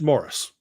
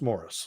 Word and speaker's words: Maurice: It's Morris. Isn't that Maurice? It's spelt Maurice, but it's pronounced Morris.